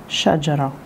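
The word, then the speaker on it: شجرة: Как она читается? Шаджара, шаджара, шаджара. Как будто, но немножко такое усталое, оно как бы вниз сходит.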